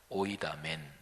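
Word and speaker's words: οἴδαμεν: 헬라어 원문으로 발음하면 오이다멘 이렇게 발음하는데요. 헬라어 여기 동사에는 주어가 포함이 되어 있어서요. 헬라어 원문으로 하면 딱 한 단어예요. 오이다멘.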